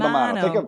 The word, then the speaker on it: Mammano: Yeah, because actually I'm looking at your website, How do you say Mammano, Mammano. Think of Romano cheese. Take out the R, put in the M. Okay, Mammano.